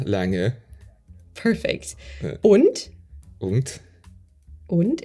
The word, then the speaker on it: und: Und. Und. Und. It's a, the U is very short. It's very in front of your mouth.